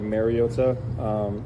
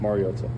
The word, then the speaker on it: Mariota: I think it's been said over the years like Mariota, which is incorrect, and it's pronounced Mariota.